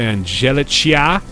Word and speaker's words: Angelicia: Lennox has died, replaced by Angelicia. It's not Angelica, is it? That is Angelicia.